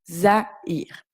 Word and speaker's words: Zaïre: Donc, pareil ici, il y a un tréma. Nous devons donc prononcer le A et le I de manière séparée. Zaïre.